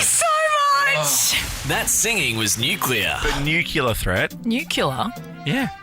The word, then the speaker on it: nuclear: this porcupine again nucle it's pronounced nucular you just said nuclear yeah what is it nuclear nuclear nuclear yeah isn't that how it's